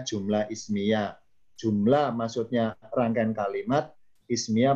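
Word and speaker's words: جملة اسمية: Bacanya jumlah ismiyah.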